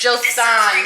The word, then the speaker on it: Joseon: Joseon, there we go.